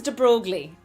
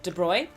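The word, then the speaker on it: de Broglie: So, his name is De Brogley if you spell it out, but it's pronounced somewhere in the vicinity of De Bruyne or at least in uh the accent that I speak in.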